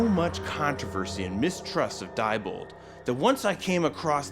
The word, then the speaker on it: Diebold: There's so much controversy and mistrust of Diebold that once I came across their headquarters in the middle of nowhere outside of Canton, Ohio, I was actually scared.